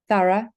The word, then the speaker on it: thorough: Take, for example, these 4 words: thought, thorough, tough, and through. They each have the letters O-U-G-H in them, but each one is pronounced differently. Thought, the pronunciation is or. Thorough, the pronunciation is a.